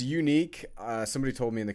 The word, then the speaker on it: Yuneec: that I can know it's not Uneck or Uneck, whatever I said. Okay, so it's Sean Page, and he was asking about pronouncing the maker of the breeze incorrectly. Is that the unique?